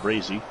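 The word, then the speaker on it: Braase: Ordell Braze, it's 4th and 11. Ordell Brazy.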